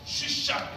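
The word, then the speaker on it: שישק: 수사는 시사 이렇게 발음이 되는데 여기 히브리어로 어떻게 되냐면 쉬 발음이 안 되었죠? 쉬샥 이렇게 됩니다. 히브리어 쉬샥.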